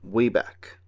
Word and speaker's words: Wabac: Peabody's inventions was a time machine called the Wabach, pronounced Wayback.